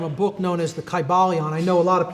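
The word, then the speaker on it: Kybalion: y sounds you know it would have been a long i sound kai ba leon and every syllable would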